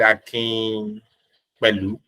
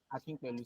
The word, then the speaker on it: Akinpelu: Ahmed Akin Pelu. God will help me. I will know how to pronounce name one day. Akinpelu, sir.